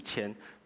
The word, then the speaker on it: 愆: 愆我去查字典，我以前都念赎眼祭其实赎愆。